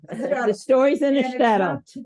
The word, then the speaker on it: shtetl: The story is in a shekel, is that how you say it? Shekel. or whatever. Shtetl. Shtetl.